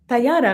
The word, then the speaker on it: Tayara: Tayara. No, you pronounced it Tayara.